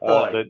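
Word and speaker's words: Oye: Somebody asked again what the name of the librarian you said, who was Karen Oy. The ninja. Yeah, that would be Karen Oy. Her last name is spelled O-Y-E, and she's a librarian at Kelvin Smith Library at Case Western Reserve in Cleveland.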